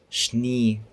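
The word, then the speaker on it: Schnee: ايه شين قويه مثلا عندنا التلج شني شني فهي عندنا ايه شين قويه في فعل مشهور جدا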